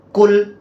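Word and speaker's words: قُلْ: kita lanjut kan bacaannya jadi Qul bukan KL ya Ini huruf qof jadi salah di sifat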